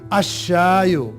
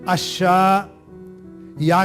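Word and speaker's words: الشاي: वो 14 होते हैं, तो लाम वहां साइलेंट हो जाता है। अब देखिए अ के बाद शय की आवाज निकल रही है और उस शय के ऊपर शद्दा रख दिया गया है, अशायो।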